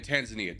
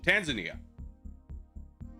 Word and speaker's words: Tanzania: Tanzania. Dude, I don't know why my brain is just, like, refuses to remember the correct pronunciation. Tanzania.